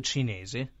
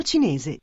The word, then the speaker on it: cinese: It's not the C, it's the CI. CI is pronounced CH. CE is pronounced CH. CHI is pronounced KI.